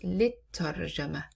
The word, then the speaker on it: للترجمة: But once we place li in addition to alif lam, we drop the alif and we write it like this. Lit-tarjama. Lit-tarjama. Because we usually skip and we say at-tarjama. We don't pronounce alif lam.